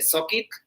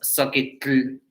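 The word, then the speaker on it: zoquitl: Bueno, en náhuatl, lodo se dice soquit. En la TL, ¿no? Terminación TL es soquit, pero no es soquitl, no soquit, ¿vale?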